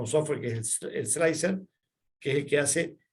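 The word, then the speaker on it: Slic3r: Hay otro que es el Prusa Slicer. Vamos a ver si comparto acá la pantallita. Los software que hacen el feteado, está el slicer, se escribe raro, se escribe Slick 3R.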